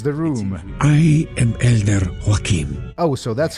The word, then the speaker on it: Joachim: old man enters the room i am elder joachim oh so that's how you pronounce that ah that is quite a tale